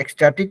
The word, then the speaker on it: ecstatic: Pronunciation is like X. हाँ, pronunciation है हाँ, x, right? is X, ecstatic, but the spelling is e EC.